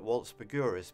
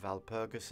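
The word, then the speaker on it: Walpurgis: word i'd call it waltz burgurus because the w in german is pronounced valpurgis and it's from the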